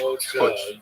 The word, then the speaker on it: Putsch: Is that push? Putsch. You said it right, because it's a German word, because they had putches in Germany.